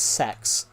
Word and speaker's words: CeX: So, technically they call it sex because technically it's called the uh central exchange.